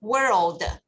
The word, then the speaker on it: world: word everybody knows but the pronunciation l is very important so we're old can you follow again world word yes remember that l is there now word word is right world is the place we